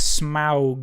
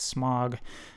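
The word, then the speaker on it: Smaug: artist as well as an author but that's smow from The Hobbit apparently that's how it's supposed to be pronounced as smow not smog uh so number one is SM uh number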